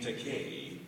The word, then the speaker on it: Takei: So I said in this YouTube PSA, my name, Takei, rhymes with gay.